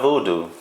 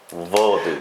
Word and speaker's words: Vodou: Not voodoo, Vodou.